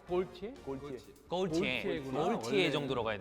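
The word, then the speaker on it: Galtier: 발음이 갈티에가 아니고 골티에?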